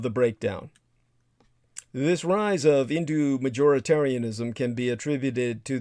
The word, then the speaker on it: Hindu: majoritarianism by the way indu is spelled with an H but the H is silent like in the original Greek pronunciation when Alexander the Great